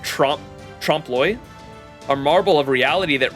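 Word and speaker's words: trompe-l'œil: what do you mean by that it's pronounced Trum tromploy a marble of reality that references Stay Night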